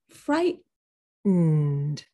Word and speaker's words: frightened: Hold the T. These are your teeth. This is your tooth ridge. You say fright. You stop the T. Fright. And then you go through your nose for the next syllable.